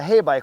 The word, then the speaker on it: Heybike: it is is a hay bike which is really nice because some of the companies that have sent me bikes I can't pronounce them so this makes sense it's hey it's a bike that's pretty simple I